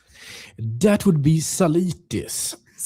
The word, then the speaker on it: Zalitis: How do I pronounce your name again? That would be Salis.